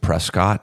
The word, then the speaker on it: Prescott: So supposedly Jerome, and then the other town they don't pronounce it Prescott, even though that's how it's spelled. They say Prescott.